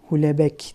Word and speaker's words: Houellebecq: Michel Houellebecq, Houellebecq diye okunuyor sanırım.